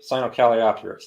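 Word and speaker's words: Sinocalliopteryx: of a theropod dinosaur that's uh cynocaliatrix i believe cyanocaliopterus that's how it's pronounced had the confucius ornis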